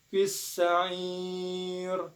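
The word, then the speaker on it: فِي السَّعِيرِ: Nah, di sini ada hukum bacaan mad arid li sukun. Mengapa? Karena bertemunya mad tabi'i yang mana huruf mad tabi'inya yaitu huruf ain yang berharokat kasroh bertemu dengan ya sukun, dan huruf yang diwakafkan adalah huruf ro hidup Cara membacanya itu boleh 2, boleh 4, ataupun 6 harokat, asalkan kita konsisten dalam membacanya.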